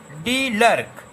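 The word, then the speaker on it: de Klerk: तो पहले लिखेंगे, first of all mister डी लर्क, KLERK, के साइलेंट रहेगा, इसको लर्क पढ़ेंगे।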